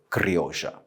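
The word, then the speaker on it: criolla: important one is kryosha the pronunciation of the two L's in Argentina is really spoken like a sh therefore cryosha other varietals that are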